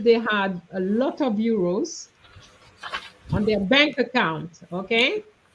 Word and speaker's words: euros: Euro versus euro. Euro as in euro, the currency versus euro. Heureux means happy. Okay, and it's it's the same sound, whereas euros, as you said, the currency, the second syllable is a O, not an E.